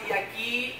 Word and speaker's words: يقين: لوكت في نطق يقين، لوكت في يقين.